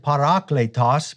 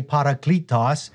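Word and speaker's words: παράκλητος: Some people pronounce it parakletos, but I say parakletos.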